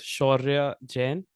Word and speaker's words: Shaurya Jain: Yeah, so it's Shaurya Jain, and this you gotta roll your tongue at the R's, but that's okay if you That's can't.